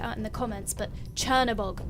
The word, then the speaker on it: Chernobog: notice or pointed out in the comments but Chernabog not a catalog which is why I said